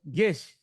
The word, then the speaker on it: Gish: hop in Dragon Ball super let's welcome how you doing Gish excuse me we just talked about this too